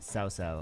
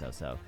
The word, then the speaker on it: Cao Cao: The most enjoyable, so this is Fantasy of Cao Cao 2, or is it Cao Cao? I think it might be pronounced Cao Cao.